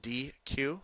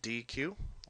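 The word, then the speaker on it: dequeue: So NQ remove is pronounced D Q okay just like the ice cream uh company. So DQ letters DQ and then element returns the front element.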